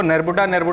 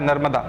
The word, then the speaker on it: नर्मदा: अब ब्रिटिशर्स ने इसको, क्योंकि प्रोनाउंस नहीं कर पाते थे, तो उसको नेरबुडा कहते थे, वो बेसिकली उसका नाम था नर्मदा।